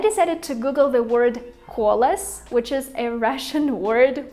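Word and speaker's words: колос: And I decided to Google the word kolos, which is a Russian word for wheat, because I feel like kolos sounds very similar to colossus.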